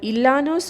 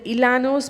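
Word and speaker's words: Llanos: also these grasslands include Ilana's of Columbia the Ilana's means it's a Spanish pronunciation and Manansala in India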